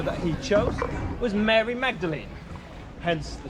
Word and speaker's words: Magdalene: a little sneaky and he changed the pronunciation from Magdalene to mlin to still have his